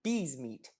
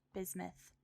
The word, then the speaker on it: Biesmet: Everyone, please welcome Bees Meat to the studio. Oh, wow. Close. Thanks so much for having me here today, Carl. And just a heads up, even though it's spelled Biesmet, it's pronounced bismuth.